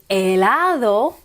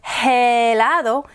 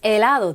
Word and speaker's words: helado: word they use is elado which is ice cream but elado you don't hear helado it's elado the h is silent i e i know